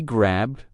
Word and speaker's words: grabbed: But between these three verbs, we either pronounce the ed ending as a d or a t. Grabbed. Grabbed. That's the d ending. And locked. Locked. That one has the T ending.